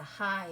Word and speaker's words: high: That is the high as in the mountain is so high.